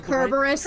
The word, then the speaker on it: Cerberus: Actually, technically it's pronounced Kerberos.